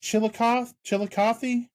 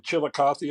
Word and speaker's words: Chillicothe: another thing they're gonna want to stay up to date on, coming up, and I am gonna butcher the name of the town. Is it Chillicothe, Chillicothe, Ohio?